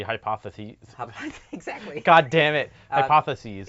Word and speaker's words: hypotheses: Yeah, no, it's unless it was multiple, then it would be hypotheses.